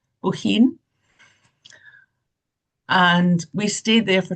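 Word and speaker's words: Bohinj: We then went back to the Triglaf National Park that's up here again be behind Lake Boin. It's pronounced Bohin.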